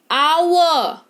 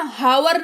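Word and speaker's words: hour: Honourable यानी कि माननीय आवर है ना? हावर नहीं आवर यानी कि घंटा।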